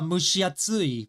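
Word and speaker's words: 蒸し暑い: And so I taught I taught the mushiatsui. Mushu. Mushi is like mushu as in the dragon. And then Atsui. So it's mushiatsui.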